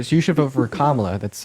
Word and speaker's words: Kamala: Sure, so you should vote for Kamala. That's how you pronounce her name.